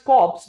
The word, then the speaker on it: corps: It's written as corps, but it's pronounced as corps.